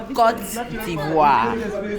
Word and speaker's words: Côte d'Ivoire: how do you pronounce the name of the country correctly? Okay, we said Côte d'Ivoire. My God, that's so hard. You can do it, it's not hard. Côte Côte d'Ivoire.